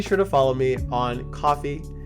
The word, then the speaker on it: Ko-fi: Now, be sure to follow me on Coffee, It's spelled like Kofi, but KO-FI.